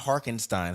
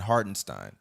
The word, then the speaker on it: Hartenstein: great backup big but hardenstein say his name right hardenstein not harkenstein hartenstein it's okay I'll be